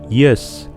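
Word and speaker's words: ես: en armenio se dice yes pero el auxiliar de tu se dice es las dos palabras se escriben igual pero se pronuncian diferentes el pronombre personal yo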